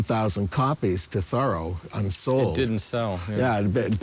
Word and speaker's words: Thoreau: miles down the road we pronounce his name thorough thorough like a thorough job we live in an